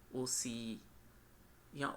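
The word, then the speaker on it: Hosea: एच इसी तरह आपने यहां पर दोनों एच साइलेंट कर देनी है ये वाली और ये वाली ये भी तो आपको ये लिखा नजर आएगा ओसी ओसी या ओसिया ये एच आपने ये भी साइलेंट कर दी ये भी साइलेंट कर दी तो ये ओसी वर्ड बन रहा है अब ओसी आपको नजर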